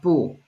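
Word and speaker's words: 不: you will notice that the bu pool is supposed to be by itself is fourth tone but here is the opinion rule of for bull when there's a force tone character behind then you change the tone of Boo from four stone to Second tone okay so it's a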